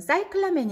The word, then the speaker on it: cyclamen: 하겠습니다 이스 클라 매는 영어로는 사이클 아멘 이라고 발음을 해요 즉 중세 라틴어 원